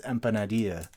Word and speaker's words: empanadilla: chops and be like it's not that's not how you pronounce it it's empanadilla I'm pretty sure it